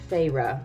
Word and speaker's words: Feyre: is this first book, the protagonist, Feyre, I believe is how you pronounce her name, spends the entire book